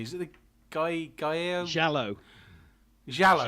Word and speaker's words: Giallo: Giallo. Giallo.